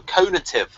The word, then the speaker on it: conative: Is that how you pronounce that? I always thought it was cognitive. Oh no, I learned that word from Dario, conative. Conative. When it's about motivation. Oh, it's different from cognitive.